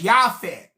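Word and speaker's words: Japheth: In the Bible, WE SAY JAFET. WE CALL THE dude Jaffet. But when you go into the ancient texts, they refer to him as Yafet with a Y.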